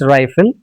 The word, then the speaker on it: rifle: RIFELE pronunciation is not refill, it's rifle.